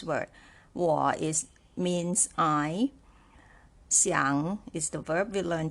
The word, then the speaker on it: 想: war is third tone Xiang is third tone and knee is also